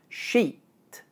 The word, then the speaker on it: sheet: As you can hear, sheed and sheet have exactly the same vowel sound, except that in sheed, the vowel is long because it's followed by the voiced consonant sound, d, while in sheet, the vowel is short because it's followed by the unvoiced consonant sound, t.